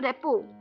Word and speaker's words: rapport: जो पीछे RT लगता है स्पेलिंग्स वो इसमें साइलेंट हो जाते हैं।